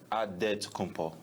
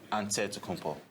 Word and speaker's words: Antetokounmpo: The Nigerian way, you gotta say with a D, so it's Antetokounmpo. But in the Greek way, you say with the NT, like Antetokounmpo.